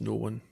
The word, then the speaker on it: Noone: the book titles and explains septimus known as it was no one that's obvious i think